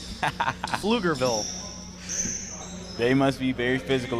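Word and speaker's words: Pflugerville: 11 points out of flugerville texas and don't get it twisted alvin that's spelled with a p plugerville they must be very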